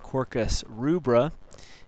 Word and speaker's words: Quercus rubra: northern red oak scientific name is pronounced Quercus rubra it's in the Fugazi a family or the